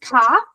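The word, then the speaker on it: כּ: So this is kaf. Remember, it's got the dot in the middle. So you think of cough, it's got to cough it out. It's got the hard cough. You need the hard C or K sound to be able to get that dot out, cough.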